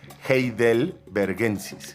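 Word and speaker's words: heidelbergensis: Gel es difícil pronunciarlo, eh, es heel bergensis. Heel vergensis. Heel vergensis.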